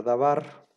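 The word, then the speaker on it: דבר: diccionario, que significa palabra, se divide en las siguientes sílabas. Da, y luego ven aquí un guioncito, ¿no?, como para separar las dos sílabas. La primera parte sería da, la primera sílaba, y la segunda sílaba sería bar.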